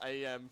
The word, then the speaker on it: AM: The AI is now AM from I have no mouth and I must scream. It's pronounced am.